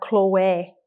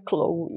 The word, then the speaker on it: Chloé: perfume conhecido como Clube Eu já vi muita gente falar Chloé mas não é como as pessoas aqui entenderiam E se você fosse comprar aqui ou nos Estados Unidos ou na Inglaterra a pronúncia correta seria Cloud é só mesmo uma